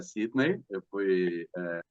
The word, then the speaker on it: Sidney: pronúncia é Sidney.